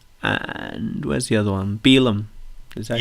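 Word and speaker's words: Finlay Bealham: Beelum.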